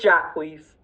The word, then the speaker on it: Jacquise: Am I still saying your name wrong? Yeah, it's Jacquise.